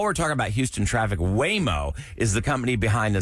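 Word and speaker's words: Waymo: Now, while we're talking about Houston traffic, Whimo is the company behind the self-driving robo taxis in Austin.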